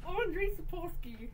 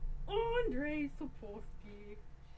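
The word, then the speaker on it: Andrzej Sapkowski: It's Andrei Sapkowski. Andrei Sapkowski.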